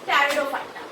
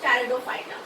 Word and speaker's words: Pteridophyta: The next group is Pteridophyta. Third subkingdom is Pteridophyta. Over here, P is silent.